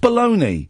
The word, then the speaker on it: bologna: bit definition of bolog it's pronounced baloney okay it's not really